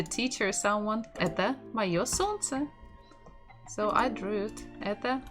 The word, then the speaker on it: солнце: So the stress is on the first syllable. Солнце.